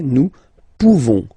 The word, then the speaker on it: nous pouvons: Okay, nous pouvons. Nous pouvons. Okay, you don't pronounce the final S.